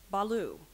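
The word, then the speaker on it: bhalu: this word has a homonym the word is Balo it is a noun it is a common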